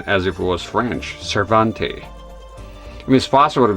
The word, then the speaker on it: Cervantes: that much was clear But the way the guy pronounces his last name here be as if he is speaking French. Cervante I you know that's the impression I get here.